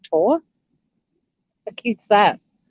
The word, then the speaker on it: Thor: who's male his name you spell it thor t-h-o-r but in denmark thor is pronounced tor who keeps that not